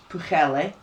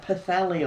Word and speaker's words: Pwllheli: You know, we went to Pwllheli. That's the proper Welsh pronunciation. Yeah, that's. I know, we tend to call it Pwllheli up here.